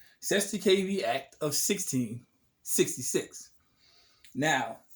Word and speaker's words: Cestui Que Vie: what we're going to talk about this is seth's the kv act of 1666. yes people i said it right 70kb act of 16 66.